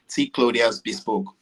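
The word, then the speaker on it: T Clothiers Bespoke: e s p o k e so it's pronounced T clas Boke okay okay now I I've been saying this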